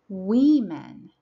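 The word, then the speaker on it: women: man man a woman We Men be careful with the pronunciation of this one we write w o m e n but we say we men and a person and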